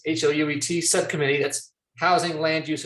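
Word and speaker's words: HLUET: the it's the h-l-u-e-t it's always pronounced i think hewitt but uh it's hout subcommittee that's housing land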